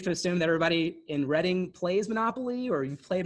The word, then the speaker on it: Reading: It's actually pronounced Reading. Reading. So, well, yes. Well, it phonetically it looks like Reading. It's pronounced Reading, but yeah.